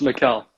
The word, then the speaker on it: Mikael: So before I butcher your name to start out with, how do you pronounce your name completely? It's Mikael. Mikael?